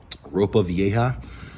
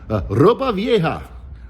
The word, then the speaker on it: ropa vieja: Um, but I ordered my favorite dish, rope vieja. Uh, I'm pronouncing it like that because I'm speaking English. If I was speaking Spanish, it' be ropa vieja. Ropa vieja, but I'm speaking English. It's ropa vieja.